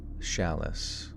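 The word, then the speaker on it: Challis: me it's pretty good uh oh chalice is pronounced shalice which the CH sounding like sh and shoe and the a sounding like a and cat oh shalice all right I guess it isn't sh I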